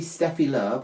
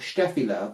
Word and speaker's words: Steffi Love: doll for Christmas um this is obviously Stephy love or sty love because she is a German doll and that's apparently how they pronounce it um now not only